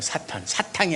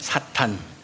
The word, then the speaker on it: 사탄: 사탕이 아니라 사탄. 네, 사탄. 그 다음에 헬라어로는 마귀, 디아볼로스. 사탄은 히브리어 발음 그대로 사탄이에요. 마귀는 디아볼로스입니다.